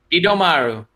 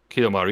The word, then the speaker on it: Kidomaru: Kidomaru. Kidomaru, yeah.